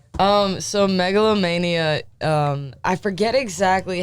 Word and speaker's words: Megalomania: out because I I was calling your project melanoma and that's not the name of it great music by the way I appreciate it I just was mispronouncing it so it's called Mega low Mania that's right that's right how did you come